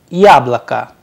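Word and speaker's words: яблоко: it has to but due to the stress on ya the o sounds like ah that is why the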